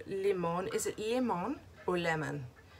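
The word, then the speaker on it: Limón: Is it Limon or Lemon? It's pronounced L-I-M-O-N. So I'm going to say Limon or Limon. Sounds weird.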